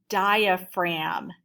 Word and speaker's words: diaphragm: the first word is diaphragm everyone say that with me diaphragm write it on the line that's a big word isn't it and at the end there's a silent g in there and this is a